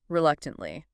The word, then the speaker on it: reluctantly: Reluctantly. Reluctantly. Reluctantly. 4 syllables, stress on the second.